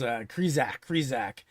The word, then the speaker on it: Krizak: I'm like, "No, your name's Krizik. They're saying Krizak. It's completely different."